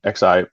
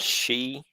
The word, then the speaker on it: Xi: I want to say it's pronounced Z. XI. From President China. And it's Xi. Yeah, Xi.